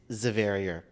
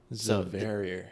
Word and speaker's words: Javeriar: The J is pronounced like a Z, but you spell it Javeriar. Zaverier. Yeah. With a Z. One of my persons told me if for people to understand it, like think of barrier, but, so Jave. So Zaverier.